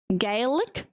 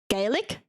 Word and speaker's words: Gaelic: Gaelic. Gaelic.